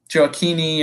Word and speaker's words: Gioacchini: You had Gio Reyna, Conrad De La Fuente, Yunus Musa, Owen Atasawi, Johnny Cardoso, Nick Gioacchini, How are we pronouncing it? Joachini.